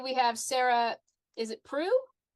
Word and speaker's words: Preu: Is it Pru? Pru. Yeah. Good. I've never heard it pronounced so I wasn't sure.